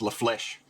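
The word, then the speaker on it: La Flèche: I'm back and so the correct pronunciation apparently is Le flesh like the word flesh there we go like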